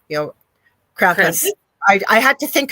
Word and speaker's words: Krampus: We think he is over here in North America, but he told me we say it wrong. It's Krampus, he says.